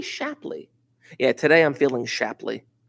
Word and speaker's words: Shapley: or the shapely shubik no it's not shapely it's got to be shapley yeah today i'm feeling